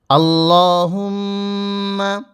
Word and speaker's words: اللهم: আল্লাহুম্মা, এখানে লামের উচ্চারণটা লা বলা যাবে না, ল পড়তে হবে।